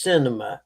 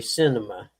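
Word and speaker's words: Sinema: That senator's name is pronounced Cinema. S I N E M- A Cinema.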